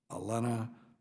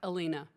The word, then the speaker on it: Alina: Alena Romanowski. Is that it? It's actually Alina.